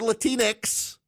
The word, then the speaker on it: Latinx: them as up you're latinx rhymes with Kleenex you're latinx I notice